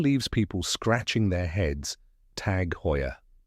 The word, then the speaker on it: Tag Heuer: it down step by step here's the correct pronunciation tag Hoya let's break it down first tag this one's